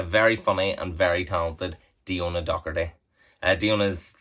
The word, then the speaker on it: Diona: Diona. Diona? Right, My Diona. dad's called Dee and my mum's called Donna, and they made up my name, Diona.